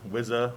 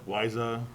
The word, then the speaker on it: Wiza: Yeah, Wiza has got to be the hardest name to pronounce, apparently. Wiza, Wiza.